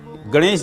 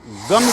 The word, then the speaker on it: गं: प्रायः लोग उच्चारण दो मंत्रों का मैंने सुना है, गं गणपतये नमः, गम गणपतये नमः। अर्थात एक मंत्र में उच्चारण किया जा रहा है जिसमें गा के ऊपर बिंदी रखी हुई है, और एक मंत्र का उच्चारण होता है जिसमें गा और माँ है, गम गणपतये नमः, गं गणपतये नमः, जो कि सही मंत्र है ओम गं गणपतये नमः।